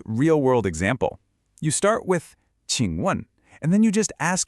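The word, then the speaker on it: 请问: It's pronounced 请问.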